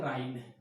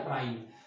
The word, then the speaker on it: Rhine: अब आपको एक देखिए, ये फ्रांस देश दिख रहा है, यहां पर एक नदी है राइन। क्या नाम है? राइन। इसमें एच साइलेंट है, RHINE लिखा जाएगा, राइन।